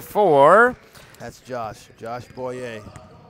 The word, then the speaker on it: Boyer: That's Josh Boyer. Bowie, he told me. I asked him before the game, and he said it's pronounced Bowie.